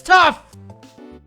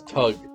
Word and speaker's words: Toug: Remember, it's spelled T-O-U-G. That's tough! No, that's Tug.